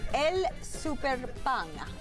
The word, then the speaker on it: El Super Pan: It's El Super Pan, not El Super Pan.